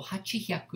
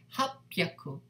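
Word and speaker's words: はっぴゃく: So hachi hyaku is difficult to say. So therefore, ha pyaku.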